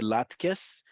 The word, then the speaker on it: latkes: So best if you want to have specifically latkes, okay, to first off say latkes, emphasize that it's an S sound.